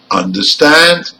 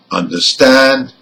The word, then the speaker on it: understand: part of the word the stress is on stand in number one and looked in number two let's hear them again number one understand and number two over